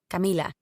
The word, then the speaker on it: Camila: i'm actually working on pronouncing my name as camila the way that my family always called me instead of camilla the americanized way it's another part of